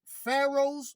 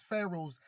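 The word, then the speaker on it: Pharos: The campus spread along the horseshoe-shaped port dominated by its, and it says Pharaohs, but it's spelled P-H-A-R-O-S.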